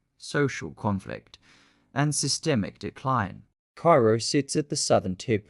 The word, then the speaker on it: Cairo: The city that should have succeeded, Cairo, pronounced Ko by locals, isn't a western mining town.